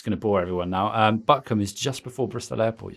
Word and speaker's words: Butcombe: And, you don't pronounce it as Coombe when you're in the West Country. No. I was told this. I'd always said Butcombe, being, you know, nicely brought up.